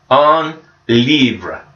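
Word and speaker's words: un livre: got our book and book in French is sounds like this on Libra on Libra so repete on Libra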